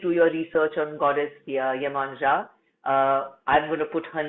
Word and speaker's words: Iemanjá: your research on Goddess Iemanjá. I'm going to put her name in the chat box so that you know the spelling. She's also known as Yemaya and different other ways of pronouncing her name.